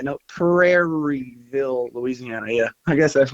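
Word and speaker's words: Prairieville: I'm saying it right praireville yeah perville look for me people laugh at me all the time because I don't never annunciate the R so for me it's Perryville perville perland Texas I'm like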